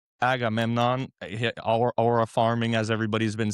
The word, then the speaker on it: Agamemnon: Um, Benny Safty as Agname. A what's How do you say his name? Agamemnon. Agamemnon.